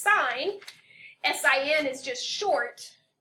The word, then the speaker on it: sin: it does not pronounce sin it is actually pronounced sign si en is just